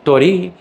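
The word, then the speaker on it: 鳥居: And then tori, with a short first syllable, but a long second syllable, means those Shinto shrine gates.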